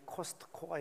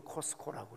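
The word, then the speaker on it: Costco: 예전에는 미국에 가서 제가 가전제품 구경하는 게 취미니까 베스트바이 아니면 서킷시티 또 아니면 코스코, 우리 여기 상봉동에 코스트코가 있는데 그건 우리나라 발음이고 미국 사람들은 그냥 그대로 묵음으로 코스코라고 그래요.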